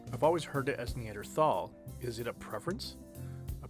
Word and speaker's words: Neanderthal: your lectures you use neanderthal i've always heard it as neanderthal is it a preference a preference and there's no h sound when it's pronounced in french and german is something that i